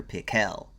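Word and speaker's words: Pickell: Actually, his name was Dr. Pel with the accent on the second syllable.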